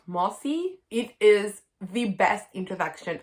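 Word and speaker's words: Mosse: introduction by another author kate moss it's spelt mossy it is the best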